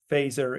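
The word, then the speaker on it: Fazer: kicked out from fer you spell it f a z r it's phaser in English it's very iconic finish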